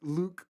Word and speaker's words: Luc: to pronounce it um so it's french but it's actually just luke cool now the one